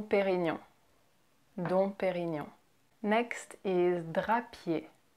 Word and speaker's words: Drapier: Next is Drapier. Drapier. Drapier. Again with the ER at the end that you where you don't pronounce the R. It's just Drapier.